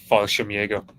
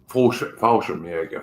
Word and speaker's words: Fallschirmjäger: Mitch will know the pronunciation better than I do. Fallschirmjäger. Fallschirmjäger, thank you.